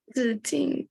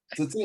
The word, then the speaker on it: Ziting: Is it Zijing? Is that how you say it? Ziting, Yeah. okay, you're done.